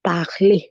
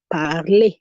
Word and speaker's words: parler: I'm saying A because the last letter is an R, and so I pronounce that E, and we saw E is a vowel sound. We saw that letter E, you pronounce it as the vowel sound A. That is why I'm saying parler.